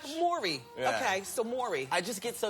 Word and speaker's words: Mowry: cause I say now you spell it like the Bowery like the Bowery bar oh yeah it's like Maury Povich like Mori yeah I can't get